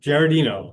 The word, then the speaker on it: Giardino: Giardino, there we go. Giardino, okay.